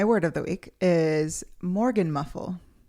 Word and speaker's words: Morgenmuffel: So my word of the week is Morgan muffle. Spell it for me. MORGENMUFFEL. Okay. Morgan muffle.